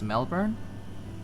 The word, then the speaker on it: Melbourne: Don't pronounce the R. Melbourne.